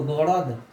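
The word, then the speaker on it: город: City, जिस city में हम रहते हैं उस सिटी को गड़ोद, गड़ोद कहते हैं, गड़ोद, गड़ोद कहा जाता है।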